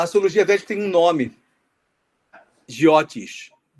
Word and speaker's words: Jyotish: Algumas grafias colocam Jyotisha ou Jyotisa, depende da pronúncia mais do norte ou mais rigorosa do sânscrito clássico, arcaico, com o já, entre aspas, modernizado.